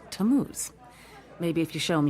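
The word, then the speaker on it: Tammuz: what t a m m u z it's pronounced tamuz maybe if you show them your evidence he'll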